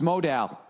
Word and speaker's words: modal: No, modal is pronounced modal.